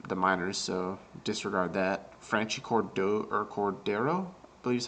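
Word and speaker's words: Franchy Cordero: Franchi Cordero, I believe is how you say his last name.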